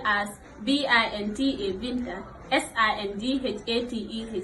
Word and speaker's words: Binta: It is spelled as BINTA Binta SINDHATEH Singate.